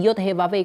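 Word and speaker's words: Yahweh: Yod hevave itu Yahwe dibacanya ya sebenarnya dibacanya bukan Yahwe tapi Yod Hevahve.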